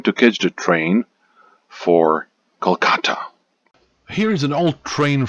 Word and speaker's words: Kolkata: is interesting because the current spelling and the pronunciation of the city is slightly different from the past Kata Kolkata Kolkata Kolkata Kolkata Kata Kolkata Kolkata okay now